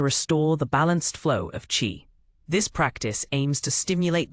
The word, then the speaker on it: qi: TCM is based on the concept of qi, pronounced qi, vital energy that flows through specific pathways in the body called meridians.